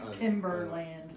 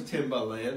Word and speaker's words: Timbaland: Backstreet Boys old geezer Timberland no I know it was Timbaland I just didn't pronounce it properly so that's pretty cool